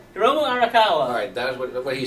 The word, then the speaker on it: Hiromu Arakawa: Hiromu Arakawa.